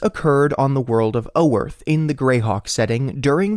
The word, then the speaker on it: Oerth: This occurred on the world of Oerth in the Greyhawk setting during the year 203 CY, or Common Year. By the way, despite being spelt O-E-R-T-H, most pronunciations sound more like Earth or Earth, but I'm